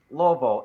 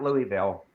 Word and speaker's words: Louisville: Can you tell them that it's pronounced Louisville and not Louisville?